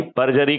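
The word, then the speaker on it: perjury: जेड यू आर वाई पजरी का offence कहते हैं इसको पजरी का ऑफेंस कहते आर साइलेंट टाइप का पजरी जी तो पजरी के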